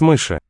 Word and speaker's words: мыши: Мыши. Lowering of the final vowel there.